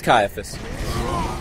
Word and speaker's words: Caiaphas: Cyphus? Cyphius? Cain? Oh, Caiaphas? Is that it? It's Caiaphas.